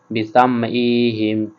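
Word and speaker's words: بِأَسْمَاعِهِمْ: লাহু লা যাহাবা বিসামইহিম, বিসামইহিম, এটা আমাদেরকে হলকের মধ্যখান থেকে উচ্চারণ করতে হবে।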